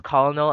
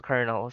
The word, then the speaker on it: colonel: can't say it's fine I pronounced it as colonal until someone told me it was Colonel so it's fine next